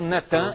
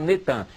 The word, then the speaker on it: Natan: no dia 4 de novembro de 2002, lança o nome do ex-primeiro-ministro de Al-Shorud de Israel, Natan, é Natan, eles já fizeram o sincretismo, botaram Netan, mas é Natan Yarro.